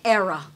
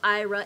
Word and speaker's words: Aira: will not open with IRA it says you do not have an app on your phone name so you have to say era I'm sorry Paul yeah